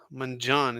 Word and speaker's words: Mangione: or something yeah mioni it's actually man Manan Manan is is the way you pronounce it Manan yeah his brain